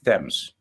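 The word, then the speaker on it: Thames: man some Supreme architecture the river thems they pronounce it thems thems river thems right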